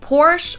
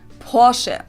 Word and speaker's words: Porsche: better oh my god certain americans pronounce it porsche or porsche in german we say porsche so they're porsche everything